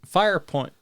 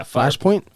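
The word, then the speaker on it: Flash Point: Fire point. Yeah. Flashoint.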